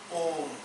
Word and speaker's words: Om: Combined together, it becomes Om.